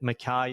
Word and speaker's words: Mai: you would hopefully understand that Mai is said the way that it rhymes with guy so Neil M the